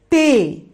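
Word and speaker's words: ت: The fourth letter is Te, Te. Here you pronunciate the word Te, the letter Te, by the soft sound of T.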